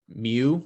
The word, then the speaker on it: mu: little greek letter called mu looks like an m or a u but it's pronounced mu so this sigma right